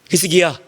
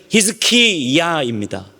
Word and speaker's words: 히스기야: 히스기야, 더 정확한 히브리 발음으로 해보자면 히스키야입니다.